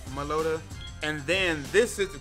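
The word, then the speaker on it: Meloetta: we're not supposed to know it is uh meloda that's how you pronounce it and then with that you will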